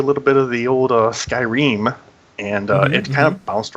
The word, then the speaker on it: Skyrim: I'm not sure how to pronounce it. It's Skyrim.